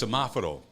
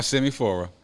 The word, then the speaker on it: Semaforo: I actually learned how to pronounce this place. God, I've been fucking this name up. It's Semaforo. Shema for That's who? why I told you to Semaforo. Okay. Okay. Not Semifora.